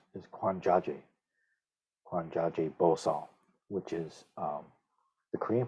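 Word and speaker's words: 觀自在菩薩: three characters of the heart suture itself I pronounce is kwanjaje kwanjaje bosal which is um the Korean pronunciation for the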